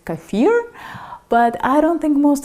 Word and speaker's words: kefir: According to Merriam Webster’s dictionary, the proper English pronunciation is Kah-fear, but I don’t think most English speakers got that memo, so they are calling it kee-fir and keh-fir.